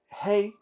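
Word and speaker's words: 黑: Black is hey, H A, hey, and white is bye, like bye bye, bye.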